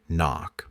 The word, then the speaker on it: knock: letters a mysterious drama have you ever wondered why we write knock but don't pronounce the k why do we say